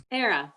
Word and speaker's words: Era: um era what's how do you say your first name era you got it yeah era okay great hi hi